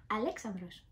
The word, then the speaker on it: [Alexandros]: Ήθελα να σας το πω γιατί ναι, έχουν το όνομα Αλέξανδρος και μάλιστα με την προφορά την ελληνική.